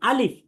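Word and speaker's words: ألف: ঠোঁট মিলবে শেষে গিয়ে, কারণ আলিফ শেষে দেখেন একটা ফ আছে, ফ উচ্চারণ করতে গিয়ে ঠোঁটে মিলবে, কিন্তু তার আগে ঠোঁটে মিলবে না। তাহলে আমরা বলবো আলিফ।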